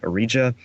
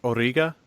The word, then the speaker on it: Origa: Isn't it pronounced Origa? Yeah, it's Origa. Origa? Okay. Yeah. I don't. I honestly did not. Don't look speak into Russian. Origa. She's Russian.